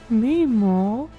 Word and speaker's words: Mimo: It's Mimo. Mimo! Nemo. Oh, Mimo! Mimo. Mimo. Mimo! It's said melodically. Mimo. Mimo! Their whole race speaks in melodic tones.